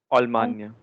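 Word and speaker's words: Allemagne: Almania. That's right. Almania. Okay, and those of you who might mispronounce it as Alemania, please don't.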